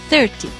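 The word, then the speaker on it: thirty: So, in the word 30, the stress is on the first syllable, 30.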